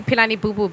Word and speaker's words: Pilani Bubu: that bunch of folks think that there's an h in my name and quite often they put an h in my name and that isn't there because my grandfather didn't think it necessary phonetically yeah so p-i-l-a-n-i-b-u-b-u that's on